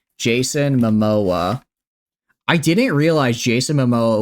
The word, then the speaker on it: Momoa: I need to look it up to make sure I say it right, because I'm gonna say mimosa, but that's a drink. Jason Momoa.